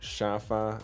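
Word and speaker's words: 沙发: So the word sofa in Chinese is pronounced shafa, and these 2 characters that make it up are purely chosen for the sound.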